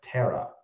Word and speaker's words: Thera: So yeah, it's spelled Thera, but that's in the Pali language. That means elder. Okay, wow. So and it's pronounced Tara.